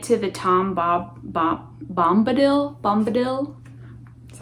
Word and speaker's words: Bombadil: why i get to the tom bob bombadil bombadil that's how you say it and i'm on